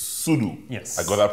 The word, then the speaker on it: Soodhoo: Soodhoo. Yes. I got that pronunciation correct?